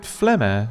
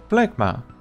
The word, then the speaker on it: Phlegma: However, I suppose it is better that people call it Phlegma than Phlegma, right?